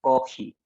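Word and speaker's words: コーヒー: For example, coffee, they will pronounce kohi.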